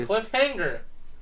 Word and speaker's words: cliffhanger: not say a g Cliffhanger you don't TR you don't pronounce the G really hard it's like a sound that you make in the in the back of your mouth Cliffhanger you don't say